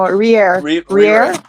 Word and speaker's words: rire: No, rire. Rire. I think the second R is silent.